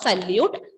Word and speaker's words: salut: When you pronounce this, T will be silent.